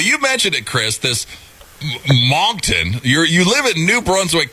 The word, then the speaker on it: Moncton: Tell us about Moncton, or how do you pronounce it?